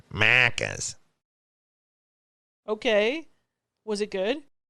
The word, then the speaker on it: Macca's: Why do you say it like that? Because that's how they said it. Macca's.